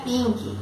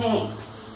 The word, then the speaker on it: pink: Isso aqui não é pink, é pink, pink. Esse P, ele é aspirado. E esse I é meio I, meio E.